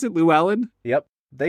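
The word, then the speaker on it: Llewelyn: who plays a dude named la levelin lewis llewellyn lou island yeah yeah is that how you pronounce it lou ellen yep they say it multiple times in the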